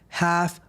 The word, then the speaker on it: Ralph: We're going to be taking it over to my jiu-jitsu channel, the half guard house, because that's how Brazilians say say my name. They It's It's not Ralph, it's Hal.